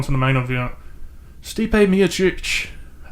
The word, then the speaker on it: Miocic: Stipe Miocic. I like to say Miocic, but the announcers say it Miocic.